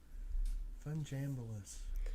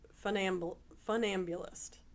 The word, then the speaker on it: funambulist: Funjambulous. And I hope I'm saying it right. It's funambulist.